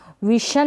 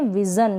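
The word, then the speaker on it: vision: फिर यह है विजन इसको विशन ना पढ़े विजन क्या पढ़ेंगे विजन यह है रिवीजन इसको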